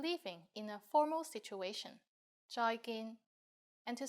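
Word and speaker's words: 再見: And you are right, it's just like the English bye-bye with a Cantonese pronunciation. Bye, bye. And in formal situations, use 再見, 再見.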